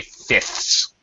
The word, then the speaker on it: fifths: want to point out when you say fifths it is perfectly okay to not pronounce the middle uh F here all right you don't have to to pronounce it so you can say fifths fifths it's very difficult to pronounce this F so we just don't bother all right English speakers